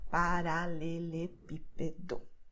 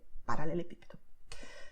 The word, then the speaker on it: paralelepípedo: though it's very long, you don't have to worry about which syllables should you stress. You just see the acento here, and you know that it's going to be stressed here on P. Paralelepípedo, okay?